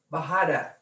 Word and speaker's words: Bajada: a lovely Spanish name, Bajada, B-A-J-A-D-A. The J's are pronounced with an H, also known as a talus slope.